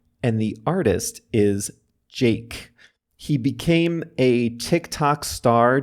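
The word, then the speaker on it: JVKE: you search for it, by Jake is the song of the week, and Jake is spelled J-V-K-E in all caps.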